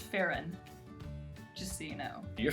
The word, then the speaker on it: Pharaon: Maybe Pharaon? It's actually pronounced Farron.